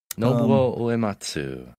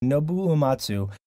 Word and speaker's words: Nobuo Uematsu: Was it pronounced Nobuo Uematsu? Yeah. Nobuo Uematsu. Nobuo Uematsu, which we are all very jealous this week in Japan.